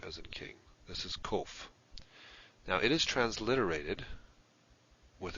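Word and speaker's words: קוף: Now it is transliterated with a q, a small q, but it's never pronounced kwe, as in quick. So don't pronounce it that way. Pronounce it k, as in king. So that's kof.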